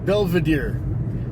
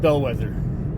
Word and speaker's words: Belvedere: onto Beckwith oh really no that's not how you pronounce it it's really pronounced Belvedere not bellwether it's Belvedere so no wonder I